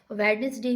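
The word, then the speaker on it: Wednesday: वेडनेसडे में डी is silent.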